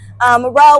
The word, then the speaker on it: R.O.W.E: Yeah, my name is R.O.W.E. That's R-O.W.E, pronounced like front row seats.